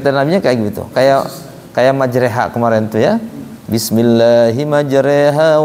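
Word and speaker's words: مجريها: Kayak majreha kemarin tuh ya. Bismillahi majreha wa mursaha. Kenapa majreha? Kaidahnya kan kalau ro dikasih fathah, ada alifnya, bacanya ro lah. Kenapa jadi majre? Alasannya apa? Nabinya begitu.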